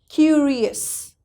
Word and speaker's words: curious: Okay, curious. I'm curious about. Why? Because before IOUS we have R, and R is also not C, not T, not X. R is the other alphabet.